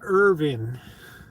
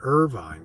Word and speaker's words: Irvine: it right it's pronounced Irvin Irvine Irvine no they pronounce it Irvine here uh Irvin would be no e on the end this is Irvine